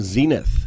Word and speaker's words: Xenith: how did you find the name Zenith with an X they spell it with